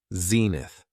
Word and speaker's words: zenith: It has 2 syllables, and the stress is on the first syllable, zenith.